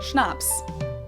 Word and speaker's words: Schnapps: these words are like schnapps this one I also mentioned in my video on alcohol culture in German we spell it like this and say Schnapps and it means hard